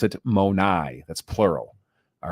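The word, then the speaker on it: μοναί: used there in John 14 2 you would pronounce it monai that's plural all right so monai is how you would say it you know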